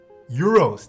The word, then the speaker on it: gyros: Is it gyros or gyros? No, it's neither, right? It's like your... It's pronounced some funky way, I forgot. Dang, I haven't had that in a while too. It's both? What? Euros. That's what it was.